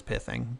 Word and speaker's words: pithing: piling needles main or pithing needle the real way to pronounce this word is pissing by the way but I'm American and I've said it pi thing since it came out and sorry but it's